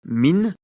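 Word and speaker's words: مِنْ: qu'elle introduit en effet cette particule se prononce à l'origine mine avec le signe soukoun sur la lettre noun pour indiquer qu'elle doit être prononcée sans voyelle comme dans la question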